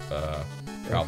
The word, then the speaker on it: Troupple: Pronounced like mouthful. Troupple.